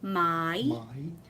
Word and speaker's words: mai: My. So it's sort of like two syllables, but it's so fast.